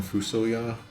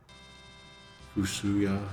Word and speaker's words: FuSoYa: Also, I always call him Fusoya because of the way his name is spelled in English, but from everything like in Japanese and other other things, I think it's supposed to be like Fuya. Fushuya, it was intended.